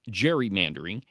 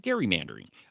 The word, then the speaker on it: gerrymandering: perhaps a couple of others, um, are completely mispronouncing the word gerrymandering. It is not gerrymandering. It is gerrymandering.